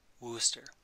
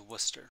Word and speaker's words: Worcester: pronounce as set to wooster so when the word worcester is typed into the message window it will be properly pronounced as wooster worcester the video will